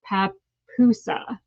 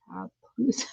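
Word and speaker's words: pupusa: Okay, and Lindsay is telling me how to pronounce it. Papusa. Papusa.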